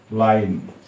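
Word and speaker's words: line: ই উচ্চারণ হবে না লাইন এল আই এন ই উচ্চারণ হবে না এল আই এন লাইন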